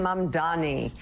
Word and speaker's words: Mamdani: All right, Democratic nominee in the New York City mayoral race, Zohran Mamdani.